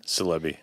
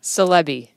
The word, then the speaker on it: Silebi: oh yeah how do you say your last name celebi celebi s-i-l-e-b-i correct okay where did